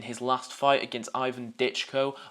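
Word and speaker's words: Dychko: Jermaine really looked like how he looked in his last fight against Ivan Ditchko. I have now found out how you pronounce his name. It's Ditchkco. He was quite slow again.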